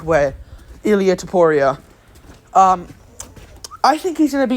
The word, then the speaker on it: Topuria: It's Topuria. That's how you say his name. I've fucking realized that just now. I think Topuria sounds cooler, though.